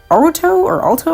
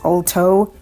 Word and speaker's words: Alto: mountainous area, and eventually Alto, I'm trying to figure out how to pronounce this guy's name. I thought it was Alt, but apparently it's Alto.